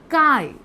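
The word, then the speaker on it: chi: m molarity capital m mole fraction this is काई ए को काई और जटा प्रोनाउंस करा है जिट और काई दैट्स नॉट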